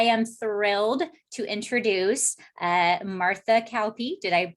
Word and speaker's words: Kauppi: Today, I am thrilled to introduce Martha Kauppi. Did I pronounce it correctly?